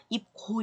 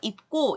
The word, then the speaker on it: 입고: 그래서 이렇게 쌍기역으로 바꿔서 입고 이렇게 발음을 하는 거고요.